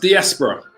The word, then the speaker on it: diaspora: you can see here the term it's it's pronounced diaspora right the term diaspora right comes from an